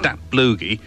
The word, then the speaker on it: Datblygu: Well, this is an ensemble called Dat Blugi, which is spelled D-A-T-B-L-Y-G-U, and this track I just know as Casserole.